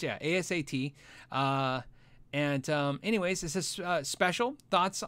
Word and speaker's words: ASAT: Somebody said they hate it when I say ASAT. I say it like ass hat.